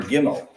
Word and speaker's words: gimel: our last three consonants we get our gimel which is a good sound hard G in English and G can